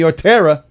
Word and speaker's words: Ortera: April 2nd in the Giggle Room, you can see Ortera. Am I saying the last name right? Yeah, you said it right.